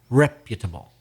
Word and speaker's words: reputable: used that word but put the stress on the first syllable reputable and if you're going